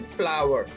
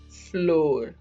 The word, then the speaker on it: flour: mostly it's used as floor no the right pronunciation is flower flower and the sentence i'm